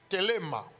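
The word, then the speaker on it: θέλημα: Et dans le grec, le mot volonté de Dieu vient du grec thelema. Thelema, ça s'écrit T-H-E, T-H-E, L-E-M-A.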